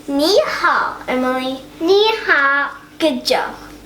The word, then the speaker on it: 你好: It's pronounced as ni hao. Okay, say ni hao, Emily.